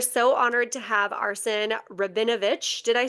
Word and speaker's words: Rabinovich: We are so honored to have Arsen Rabinovich.